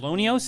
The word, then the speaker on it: LONEOS: Lonios, is that how you pronounce it?